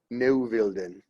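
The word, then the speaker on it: Neue Wilde: So how did you pronounce it better than me? No, Neuwilden.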